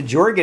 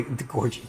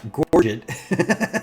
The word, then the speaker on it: Gorget: The Jorget actually, the Gorget, yeah, the Gorget, still not saying it right, actually does gives us the full block that we otherwise wouldn't have had there.